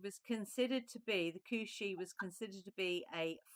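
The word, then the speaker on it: Cù-sìth: So the second card is actually pronounced Cushi is the green dog of the Highlands and was a strange and formidable creature.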